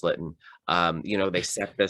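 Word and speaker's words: Lytton: like i said like lighten or litten uh it's pronounced litten um you know they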